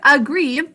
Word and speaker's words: agree: For the word agree, we think to spell agree. There's an unstressed a-a-aw at the beginning of this word. Would you say agree with me? Agree. 2 syllables.